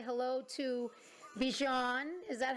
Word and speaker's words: Bjorn: Yes, Bjorn. It's hard to pronounce in English. Bjorn. So people say Bjorn, like Bjorn in ABBA, the most, popular Swedish band ever, I think.